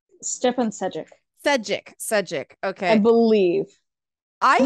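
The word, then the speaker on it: Šejić: There are people who have, I mean, I think I can never pronounce his last name. Stepan, how do you say his last name? Stepan Sejic, Sejic.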